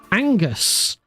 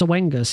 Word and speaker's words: Oengus: You can check it out on Angus. I've been calling it Oengus forever, but it's not pronounced Oengus, it's pronounced Angus.